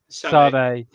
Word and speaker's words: Sade: Yeah, Sade.